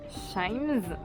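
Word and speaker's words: CHIJMES: je suis à Shimes, ça se prononce comme ça.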